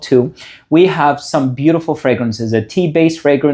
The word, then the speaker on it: THoO: So, congratulations to the person who is going to win this.